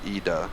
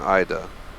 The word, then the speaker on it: Ida: I was curious, and apparently it says the European pronunciation is Ida rather than Ida. So Ida if you live in the US, Ida if you live in Europe.